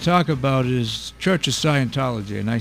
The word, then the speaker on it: Scientology: picked on this the uh Church of Sci Scientology okay am I saying it right yeah okay